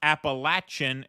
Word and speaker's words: Appalachian: Thursday it's pronounced Appalachian and it's important a point of division between